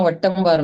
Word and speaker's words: Wattamwar: would you mind actually pronouncing that? It's Wattamwar, madam.